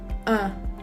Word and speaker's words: un: So let's practice the sound It sounds like in English word fun or burn. Now don't pronounce the N at the end. Say un.